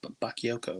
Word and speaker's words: Bakayoko: Bakayoko, I believe is how you say his name.